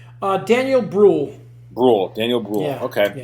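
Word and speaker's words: Daniel Brühl: Daniel Bruhl.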